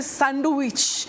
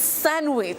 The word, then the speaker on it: sandwich: around me don't say sandwich it's sandwich so thank you for that sandwich not sandwich the D is silent silent okay moving to